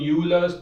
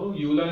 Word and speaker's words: Euler: This person called you must have already seen Euler's number. बोलते हैं हम इसको. Euler नहीं होता pronunciation. This is pronounced as Euler. Oil, right? Euler.